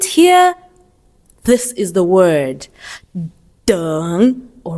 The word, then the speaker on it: 等: would say it like 等一下. 等一下. All right. So you're going to learn more, but for now, just remember that to wait is 等, and it's the third tone.